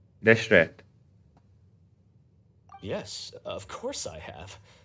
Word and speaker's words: Deshret: So I learned how to pronounce this his name. It's Deshret. Denslev said it correctly. Deshret.